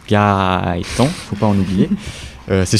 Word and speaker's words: Gaëtan: Pour me contacter, mes réseaux c'est Gaëtan avec 4 A, ça se prononce Gaëtan, faut pas en oublier.